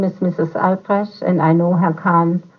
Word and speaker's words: Albrecht: Uh, what is the correct pronunciation of your name? Hello, my name is Mrs. Albrecht, and the spelling is Albrecht.